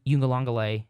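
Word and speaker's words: Uiagalelei: the same since Trevor Lawrence left and DJ you in the longelay that's how you say his name I did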